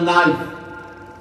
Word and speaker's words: knife: No, K is silent.